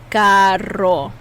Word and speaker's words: carro: This double R is a rolling of the tongue. Carro.